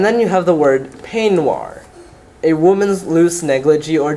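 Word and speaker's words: peignoir: right b-o-u-d-o-i-r and then you have the word panoir a woman's loose negligee or dressing gown so p-e-i-g-n-o-i-r you have boudoir the dressing room and penoir the dress that you wear in the dressing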